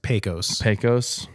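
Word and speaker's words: Pecos: Um just so our pronunciation people are happy, it's pos like pesos. Like p a y k o hs.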